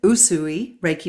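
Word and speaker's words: Usui Reiki: But you're uh, how do we pronounce it? Yu Yui Raiki Master. Usui Raiki Master.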